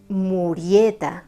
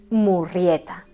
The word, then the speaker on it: Murrieta: Sí, habéis escuchado bien, he pronunciado Murrieta con una sola R, porque así lo escribió el autor del libro, John Rollin Rich, que era un nativo nacido en el estado de Georgia.